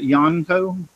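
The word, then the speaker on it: Yonico: Now this is a, how you pronounce that? Yoniko.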